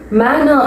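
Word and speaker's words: manor: மேனர், மேனர் அப்படின்னா ஒரு பண்ணை நிலம், பண்ணைக்கு உரிமைப்பட்ட ஒரு தனி நிலம், அதுதான் அதோட தமிழ் அர்த்தம். எப்படி ப்ரொனவுன்ஸ் பண்ணணும்? மேனர். ஆர் எப்பவுமே கொஞ்சம் சைலண்டா ப்ரொனவுன்ஸ் பண்ணணும். மேனர், மேனர். சஜஷன், இது தமிழ்ல என்ன அர்த்தம்னா பரிந்துரைக்கிறது, பரிந்துரை.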